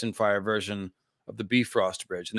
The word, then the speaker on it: Bifrost: Fire version of the Bifrost Bridge. And that's how you say it, by the way. Bifrost, not Bifrost. Bifrost. And Bifrost, it should be, I guess, in a little Icelandic accent.